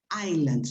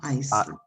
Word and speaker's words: island: caribbean and the greek islands be careful with the pronunciation of this word island not iceland iceland is another thing